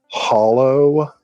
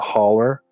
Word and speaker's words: holler: One of the frickin' Kennedys made a documentary called American Hollow, and they say it hollow and not holler. Yikes. I mean, it's spelled hollow, but it's pronounced holler.